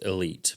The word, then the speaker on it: Elyte: It's actually Callaway's pronouncing it Elite, but here at Loggerhead, it's the Elyte.